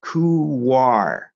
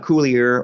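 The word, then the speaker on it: couloir: is that first one there t that is pronounced kuwar okay not cooler or cooler um it's a Welsh word and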